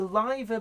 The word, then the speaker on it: Liver: when Blackpool's pronounced Blackpool right Liverpool but it's the LIBOR building in Liverpool what's that about I